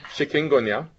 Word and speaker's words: chikungunya: Doctor, you'll have to help me with the pronunciation. Chikungunya.